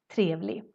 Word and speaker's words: trevlig: And if you hear, we kind of skip the G in the end, even if we write it. Trevlig.